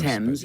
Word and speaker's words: Thames: Thames, but yeah.